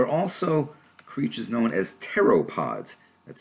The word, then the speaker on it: pteropods: Well, there are also creatures known as pteropods. That's spelled P-T-E-R-O-P-O-D.